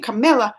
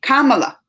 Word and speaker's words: Kamala: And I keep saying Camilla, which I know Camilla's wrong because there ain't illa at the end. But I think it's Kamala. I gotta say it right. Kamala.